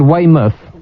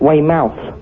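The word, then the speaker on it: Weymouth: if wait a minute back up you said we myth instead of we mouth it's not we mouth well the last bit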